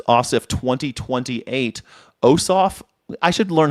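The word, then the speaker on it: Ossoff: This the the accent is on both like the syllab accent is on both syllables.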